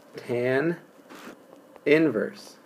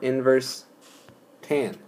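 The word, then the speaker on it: tan⁻¹: x = tan inverse this is not tan to the1 this is pronounced this is pronounced tan inverse or inverse tan okay it could be pronounced inverse tan as well but tan inverse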